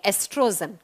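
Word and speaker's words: estrogen: व होता है बच्चा एस्ट्रोजन लिखा जाता है ओ से प्रोनाउंस करते हैं एस्ट्रोजन ओ साइलेंट हो जाता है प्रोनाउंस एशन के समय एस्ट्रोजन एस्ट्रोजन हार्मोन और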